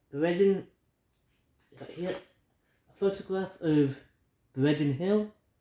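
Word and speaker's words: Breidden: got here photograph of Breen Hill I think that's how you say it I say pronounce it it's spelled b r e i d d e n Hill um then you've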